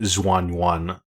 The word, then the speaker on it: Xuan Yuan: Well, the anglicized version would be Xuan Yuan Sword 7.